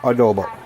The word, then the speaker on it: adobo: if you probably hear somebody in the background pronouncing it for me pork adobo so it is Sunday get ready time for